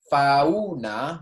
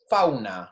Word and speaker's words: fauna: All right, we're not saying fauna, we're not separating each syllable, we're saying fauna, right?